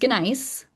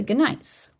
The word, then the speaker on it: gneiss: which is basically that this gneiss, which I should say nice, you're not supposed to pronounce the G, but I can't do it.